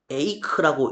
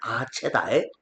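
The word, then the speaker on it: Aché: 에이크라고 읽으면 안 되고 그냥 아체다.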